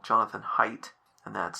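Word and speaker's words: Haidt: You may know of a professor called Jonathan Height and that's spelled H AI DT.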